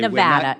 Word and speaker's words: Nevada: information over a month ago in Nevada okay Nevada it's Nevada sir please say it correctly it's